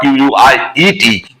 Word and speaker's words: quiet: If you are on a diet, you can clearly understand how to pronounce the word diet, D-I-E-T. In the same way, you have to pronounce the word Q-U-I-E-T, quiet.